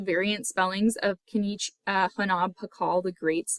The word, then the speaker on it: Pakal: as three phonetic signs, which is Pakala, read from left to right to bottom, in which the final A is silent. So that's how we get his name Pakal, which means shield.